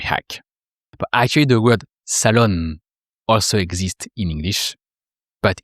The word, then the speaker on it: salon: So here it's the living room in French, le salon. And you don't pronounce the N of salon. It's just the sound on.